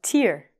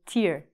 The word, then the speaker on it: tear: And this is called a tear. The pronunciation is like with two E's. We say tear.